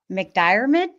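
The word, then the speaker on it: McDiarmid: I confused Julian Beck with Ian McDyid. Did I pronounce that right? I hope. Dyid. McDid.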